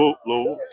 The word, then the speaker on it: Louisville: How do you pronounce that? Louisville. That's if you're from Kentucky.